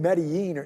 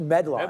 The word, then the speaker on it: Medline: No, I think you were you were saying medí like just like you just said right now. And then and then that the only reason I thought about it because I checked when you were pronouncing it like that. I was like, I thought it was just Medline.